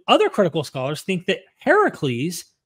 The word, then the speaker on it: Heracles: critical Scholars think that Heracles Heracles which is the Greek pronunciation which means the older version of Hercules um influen the biblical